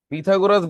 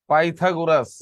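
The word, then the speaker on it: Pythagoras: পিথাগোরাস বানানটা এটা সঠিক না, হলো পাইথাগোরাস।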